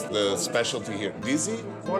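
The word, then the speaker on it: Dizi: How do you pronounce the specialty here, Dizzy? What they serve is called DZ, which actually is the name of the pot.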